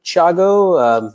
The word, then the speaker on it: Thiago: how you spell that now this is definitely not an English name it's Portuguese I am originally from